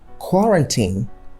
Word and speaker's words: quarantine: So quarantine should be correctly pronounced as quarantine. You can also alternatively pronounce it as quarantine, but the stress shouldn't be on tine or teen. So it's not quarantine and it's not quarantine.